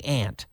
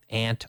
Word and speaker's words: aunt: and an American way sometimes there's just a couple different ways we can say it and people pronounce things differently aunt aunt some days I